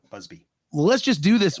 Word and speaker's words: Busby: a buzz was that bugsley Berkeley I'm saying his name wrong it's like bee Busby well let's just do